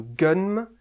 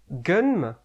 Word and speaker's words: Gunnm: Bonjour à tous, aujourd'hui je vais vous parler de Gunm, chef-d'œuvre du manga cyberpunk s'il en est. J'ai vu tant de choses que vous, humains, ne pourriez pas croire. Voilà, ce genre-là. Gunm, prononcé Ganmu en japonais, pourrait se traduire par rêve d'une arme.